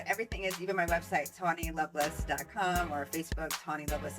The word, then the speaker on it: Tawny: social media my name is the same it's Tony it's t it's Tony yes so maybe I should spell it out for you c a w n